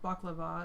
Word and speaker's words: baklava: I haven't had baklava in so long. Or I've heard it pronounced baklava as well.